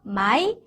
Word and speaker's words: 买: 그 다음에 MAI 아까 했어요. my. 삼성은 턱 내려서 my.